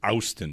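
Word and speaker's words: Auston: It's pronounced Austin. There's an O in there.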